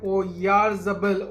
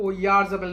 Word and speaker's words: Oyarzabal: Looking at the forward line, let me just take a moment and pronounce it right. Oyarzabal. Oyarzabal, not Oyarzabal.